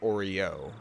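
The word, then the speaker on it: Oryou: the characters names with or you I got it right the first time it was supposed to be like Oreo like Oreo like that that's how you say it even though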